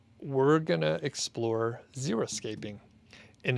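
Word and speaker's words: xeriscaping: to explore xeroscaping and it's spelled x-e-r-i escape and it's a style of landscape requiring little or no irrigation or maintenance and it's used in arid regions and a lot of people say xeroscape i thought it was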